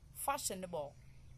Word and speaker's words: fashionable: Fashionable, fashionable, we have the stress on the first 2.